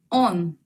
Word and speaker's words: он: Он.